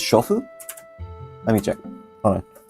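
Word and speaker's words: 娼婦: Another thing my teacher told me is the word for housewife is I think it's shofu.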